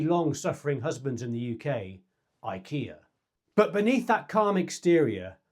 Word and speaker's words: IKEA: Strictly speaking, I'm already off to a flying start as I mispronounced IKEA earlier. But in my defense, that's pretty much what we all call it in the UK rather than Iaya or something like that.